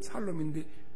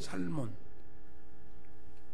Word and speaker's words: 살몬: 죽을 놈 살 놈인데 살몬하고 했어. 살몬. 라합이 누구한테 시집갔다? 살몬. 뭐 발음 똑똑해. 살놈이 아니라 살몬하고 했어. 그래서 누구를 낳냐?